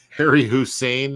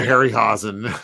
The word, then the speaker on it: Harryhausen: Harry Hussein, is that that's the Iraqi version of what did I say? I said the wrong Ray Harryhausen. Yeah, I always say his name wrong.